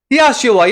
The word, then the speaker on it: Yahshua: Niretain yung sound kasi sa original sound, pagbigkas po sa Hebrew, Yahshua yan.